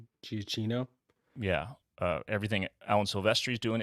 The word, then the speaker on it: Giacchino: I think it crushes everything Hans Zimmer is doing, everything Michael Gia, how do you pronounce his name? Giacchino.